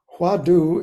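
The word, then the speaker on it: hwadu: it's really gone man you know it's um huadu is the Korean pronunciation of the Chinese wat uh which means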